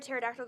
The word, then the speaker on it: pterodactyl: you ever hear a pterodactyl going to the bathroom cuz the p is silent boom it took me